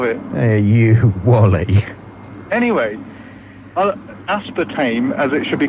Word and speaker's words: aspartame: a test of it he you Wally anyway aspartame as it should be correctly pronounced right is related to a subst can